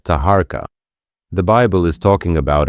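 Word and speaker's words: Taharqa: Tirhaka. That's the Hebrew pronunciation of Tahara.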